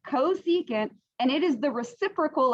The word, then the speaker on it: cosecant: the reciprocal all right this one is csc that is cosecant that's how you say it cosecant and it is the